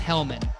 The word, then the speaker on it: Helman: last name is pronounced helmet yeah like like the mayonnaise but I don't recommend